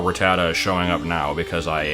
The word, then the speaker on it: Rattata: back in a while Rattata or ricotta as I usually mispronounce it and will probably continue to pronounce it just because it sounds more natural to me is one of